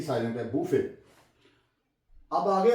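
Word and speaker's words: buffet: में तो बड़ी मशहूर बुफे बीय ड डबल एफ टी बुफे य बच्चों की बड़ फेवरेट चीज है तो इसे य भी साइट बफे अब आगे आ जाए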